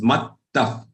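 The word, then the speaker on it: मत्तः: It is mattah. There are two thas. Okay. Half the joined with another tha. So how do you pronounce it? Mat and then tha.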